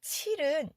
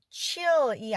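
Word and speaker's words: 칠: 자, 여기서 7은 chill이 아니고 7. 우이 발음으로 나지 않고 한국어의 이는 이 발음이 나기 때문에 발음과 이가 앞에서 7 이렇게 소리가 나고요.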